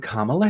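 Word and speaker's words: Kamala: representing this country so hi I'm kamla Harris that's how you say it now we can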